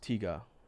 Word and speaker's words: Tiga: whatever is going to hit hardest oh it's pronounced Tiga I gotcha thanks for correcting me lava king